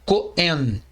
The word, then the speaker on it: Kohen: Esta palavra pode ser transliterada como Kohen, significando, ela é lida como Cohen, e significa sacerdote. Cohen, porque na verdade o rei aqui ele é mudo, tá ok?